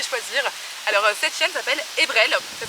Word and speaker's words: Ebrel: Alors cette chienne s'appelle Ebrel, ça s'écrit E-B-R-E-L et ça veut dire avril en breton.